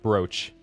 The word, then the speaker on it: brooch: I swear it's pronounced brooch. I swear it's pronounced brooch.